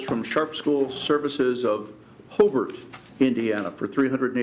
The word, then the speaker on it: Hobart: seconded by an and it is correctly pronounced Hobart as a Lake County native it is not Hobart as many people from Fort Wayne might say Hobart Indiana the Hobart brickies